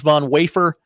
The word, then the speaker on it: Von Wafer: His name is Von Wafer. It is spelled Vom Wafer.